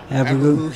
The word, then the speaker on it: Abregu: Is that his correct pronunciation? Abregu, yeah.